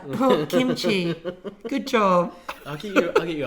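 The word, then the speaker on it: 김치: god come on big boy want some more kimchi okay you said it right oh kimchi good job i'll get you a whole trough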